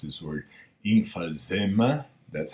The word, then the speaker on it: emphysema: Not everybody who smokes will die of how you pronounce this word? Emphysema.